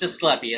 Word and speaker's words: Asclepius: Of some of the scenes with Asclepius. Okay. But so that it is pronounced Asclepius. At least according to the voice director of this show.